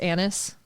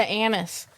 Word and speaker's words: Anise: Oh, the one that looks like Anise, but it's pronounced Annis. Yeah, Annis.